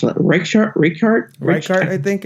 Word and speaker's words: Reichardt: release First Cow, with from Kelly, I can't pronounce it. Reichardt, I think it's Reichardt.